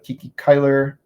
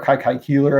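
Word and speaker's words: Kiki Cuyler: The Kiki Kyler, or Kai Keeler, I should say. I mispronounced it.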